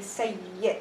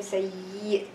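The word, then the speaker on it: سيّد: So in here I'm gonna say sayyid. I'm not gonna say sayyid.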